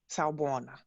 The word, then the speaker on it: sawubona: So moving into strategies, I want to introduce you to this ancient Zulu word from South Africa, and it's pronounced Sawubona.